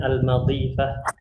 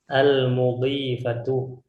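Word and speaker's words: المضيفة: Dialog di sini, dialog antara al-mudhifah. Ini mimnya dhammah ya. Jangan pula nanti kita bacanya al-madhifah atau al-midhifah. Al-mudhifatu.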